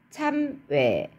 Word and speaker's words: 참외: 어떤 게 있을까요? 참외 해보세요. 참외, 참외. 오히려 이 경우에는 이중모음으로 발음하는 게 더 힘들거든요.